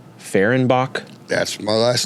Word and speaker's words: Fehrenbach: at the camera yeah is your last name ferenbach that's my last name okay I was pronouncing it right I I hate getting in